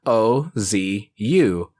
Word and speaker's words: OOO: O's is officially spelled with 3 O's, but in katakana it's spelled O-Z-U. Ozu. Oz. That's only meant to show how it's pronounced in Japanese, but even in the show, it's spelled with 3 O's.